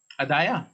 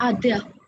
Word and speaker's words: आद्या: है, रिया करेक्ट है, ये हाउ डू you pronounce this your name, ADDAYA, अदाया, सर आद्या। Okay it's आद्या, ठीक है, सहज करेक्ट,